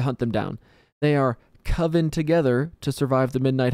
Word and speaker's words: coven: then there's coven not coven it's coven only a dum-dum would think it's pronounced like cove with an n on the end you know okay coven's